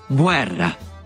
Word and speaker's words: Guerra: La U que sigue a la G ante las vocales I y E no se pronuncia en español y sí en italiano, como en Guerra. Guerra.